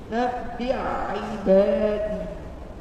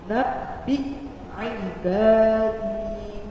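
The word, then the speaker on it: نبئ عبادي: Dan akhirnya kadang seringkali orang tuh bacanya langsung seperti ini. Nabi ibadi. Hamzahnya ketinggalan, hamzahnya nggak terbaca. Ini makanya baru kita perhatikan hamzah di sini terdapat harakat sukun, artinya hamzahnya dibaca jelas. Jadi caranya baca hamzahnya dulu.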